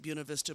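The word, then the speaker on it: Buena Vista: about the town of buav Vista Virginia I think they pronounced it buav Vista but my sister-in-law is Hispanic and I can't quite bring myself to pronounce it that way so bear with me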